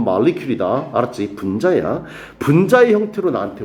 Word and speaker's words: molecule: 발음은 molecule이다.